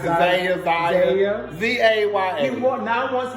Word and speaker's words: Zaya: has come out and said that he now wants to be called Zaya. I can't pronounce it. Zaya.